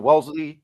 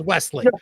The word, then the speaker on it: Wesley: Welsley your Hey guys, how are you?